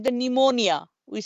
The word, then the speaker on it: pneumonia: is the letter with silent like the new pneumonia with silent p is silent pneumonia so same thing apnea we just